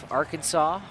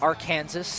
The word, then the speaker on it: Arkansas: Arkansas or our Kansas as it's spelled is still looking for a way to stop it in its tracks.